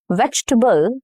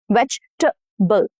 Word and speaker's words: vegetable: So in vegetable, veg, t. So after t, there is this t. So that is schwa, okay? Vegetable. And again, between B and L, there is again a schwa. B. Okay, vegetable. So there are two schwa.